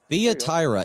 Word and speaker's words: Thyatira: And to the angel of the church in Thyatira, Thyatira, boy, that one's a tough for me. Here, I'm going to have my software pronounce it. Thyatira, it says.